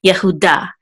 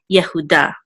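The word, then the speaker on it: יהודה: will say da and accent mark is over the dullard so we'll give the last syllable to accent Yehuda Yehuda which of course in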